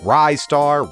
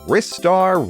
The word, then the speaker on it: Ristar: We've seen Ryar, Rristar, Restar. It's a conundrum for sure to the point where even Sega themselves as developer and publisher never settled on a pronunciation. I'm going with Ryar.